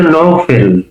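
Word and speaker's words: নওফেল: আপনি ওই নোফায়েল বা বলছেন তার উচ্চারণটা আমাদের কাছে হচ্ছে নফেল।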